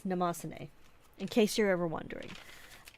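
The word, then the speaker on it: Mnemosyne: Today we are using the Maruman Namosane, and I know how to pronounce that because I learned, and then I always forget, but it's Namosane, in case you're ever wondering.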